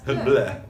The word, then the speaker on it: Bleu: Sneak peek of Corbin Bleu, Laura Lee Gayer. Blue. It's the color. Blue. Corbin Bleu. Laura Lee Gayer. You say French. You do like a French version of Bleu. That's Bleu.